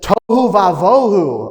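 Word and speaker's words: תֹהוּ וָבֹהוּ: Verse 2, because the universe was without form, the universe was void, the universe was what the Hebrew says, tohu vavohu. Oh, I love that. It rhymes.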